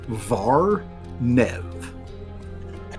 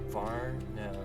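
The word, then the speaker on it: Vharnev: paper so we can It is It is spelled V H A R N E V. Var Nev. Gotcha. The Hond. Var Nev.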